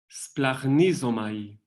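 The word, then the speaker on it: σπλαγχνίζομαι: La primera es una S, que en español siempre le ponemos una E antes como para que podamos pronunciarla, pero una S. Y después sigue plag, como, no sé, el apellido del obispo de Alcalá. Bueno, plag, y después ni, zo, mai, splagnisomai. ¿Alguien se atreve a decir eso?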